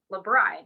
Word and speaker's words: L'BRI: as a consultant for um lebron i say it right yeah perfect um and so you